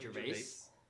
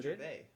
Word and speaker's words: Gervais: Are you supposed to not pronounce the S? I've always pronounced the S at the end of his name. Ricky Gervais. Really? Yeah. Is that well, not... I don't think you I think it's just Gervais.